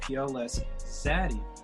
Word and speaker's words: Pls Xzady: So it's PLS, you don't have to say please, and then you have the letter X in front of the word Xzady without an extra D in the word Xzady. So you would just pronounce it Pls Xzady.